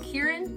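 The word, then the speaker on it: Kirin: it is next level yeah I is it pronounced Kieran mhm Kieran I had the Kieran beer um a good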